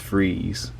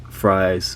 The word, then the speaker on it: Fries: His name is spelled Victor Fries, but it's pronounced Freeze. So that's pretty interesting to me. Well, at least like how I imagine fries, or how it would be pronounced, is fries.